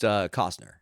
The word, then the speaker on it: Costner: He's like, hey, It's pronounced Cosner.